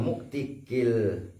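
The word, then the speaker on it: مُعْتِق: opo lafad mawali alal muktikil sayyidi wa muktakil abdi. Jadi muktik yang pertama itu bil kasr, muktak yang kedua itu bil fathah, karena berpengaruh terhadap makna.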